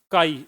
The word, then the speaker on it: chi: Magnetic susceptibility काई, इसको काई पढ़ते हैं, स्पेलिंग यही है ना काई की? छी ये काई है चाई है क्या ये? छी काई है।